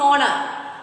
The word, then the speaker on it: honor: But you see here next letter is O. Here H is silent.